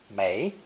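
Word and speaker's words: 没: These 3 drops are the most common form of water when used in combination with other elements. This is a split sound character, pronounced second tone mei, mei, or fourth tone mo, mo.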